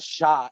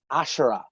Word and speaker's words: Ashura: And he went, no, her name's not Sha, it's Ashura. And when you'd yell that, you'd be like, Ashura, like one syllable.